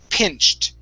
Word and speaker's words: pinched: Okay, then we're going to pronounce a T at the end. All right, because the CH is an unvoiced sound. This word is pinched.